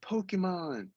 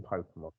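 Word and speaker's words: Pokémon: Like, you know, it's like someone saying, oh, I like Pokemon. It's just like it's a very westernized. It's okay. There's no R's in Pokemon. Fine. It's also not pronounced like that.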